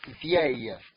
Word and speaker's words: vieille: If it is female, you are using for a feminine word now, you use vieille. Vieille. As I'm pronouncing it, say it with me.